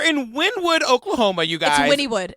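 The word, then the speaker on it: Wynnewood: Windwood Oklahoma you guys Winnwood it's Winnwood a win even it spelled like Winwood but it's Winnwood don't come please I'm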